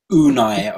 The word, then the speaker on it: Unai: Can anyone tell me how you actually pronounce his first name, Harry? Unai, I believe.